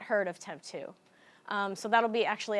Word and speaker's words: TEMPTU: takeaways from that so temp 2 is actually pronounced temp 2 kind of how I've spelled it phonetically up